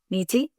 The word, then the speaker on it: Neeti: I want to make sure I'm pronouncing your name correct. Niti. Niti.